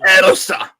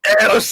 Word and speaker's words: Ilse: Ilse. Oh, my. Try saying it. Ready? Say, Ilse.